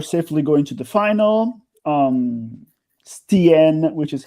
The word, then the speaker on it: Stien: Stien, which is how her name is pronounced, seems to be a capable performer, and